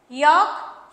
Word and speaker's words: yoke: और नेक्स्ट है यॉक यॉक, दोनों को बिल्कुल सेम बोला जा रहा है, यॉक यॉक, स्पेलिंग बिल्कुल डिफरेंट है, YOKE YOLK।